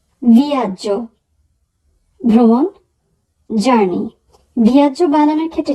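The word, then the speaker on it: viaggio: ভিয়াজ্য, ভিয়াজ্য, ভ্রমণ, জার্নি। ভিয়াজ্য বানানোর ক্ষেত্রে যেটি খেয়াল করব সেটি হচ্ছে সবার শেষে আছে GEO, তো সেক্ষেত্রে উচ্চারণ হবে জ, আর GEA থাকলে উচ্চারণ হয় যা।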